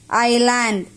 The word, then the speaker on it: island: O-F of A-N, island. I-S-L-A-N-D, land. S is silent here.